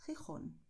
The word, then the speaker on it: Gijón: Es un sonido de garganta que sale de la mitad de la garganta, pero es un sonido suave, como en inglés cuando dices hot.